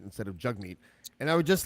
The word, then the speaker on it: Jagmeet: and I admit that I'm guilty of accidentally pronouncing a Jag meat instead of jug meat and I would just like to say to